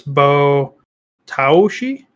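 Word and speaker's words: Botaoshi: ashy it is b-o a-o-s-h-i s-h-i so it's bo taoshi and according to this article it's intense okay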